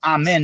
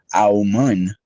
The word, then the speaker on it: amen: But amen is how you say it in English. It's a Aman, if you say it correctly, when you have your